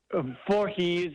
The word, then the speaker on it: Vorhies: remember it after that for he's a jolly good fellow no the same thing for he's for he's okay good so I think